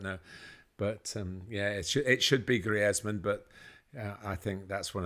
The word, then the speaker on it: Griezmann: It is Griezmann, but I think generally it's such an odd because he plays for France, but it's a Spanish name, really, isn't it?